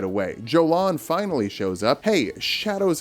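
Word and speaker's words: Jolán: Also, her name is Jolan. Ymir calls her Jolan. I thought it was Yolan. And then Ymir calls her Jolan. So, because the character in the game said Jolan, I'm pronouncing it Jolan.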